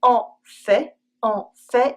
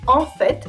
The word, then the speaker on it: en fait: She does two hundred every morning » ) OK, you can see « en fait » in the middle of the sentence, but don’t worry – it’s rare, the t stays silent, and you can guess what it means from the context.